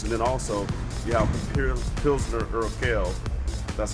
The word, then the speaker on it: Pilsner Urquell: Both of those was two good beers, and then also you have Pilsner Urquell. That's how you pronounce it.